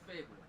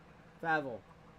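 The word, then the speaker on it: FABVL: Yeah, it's F-A-B-V-L, but it's Fable. Okay. Is how we pronounce it.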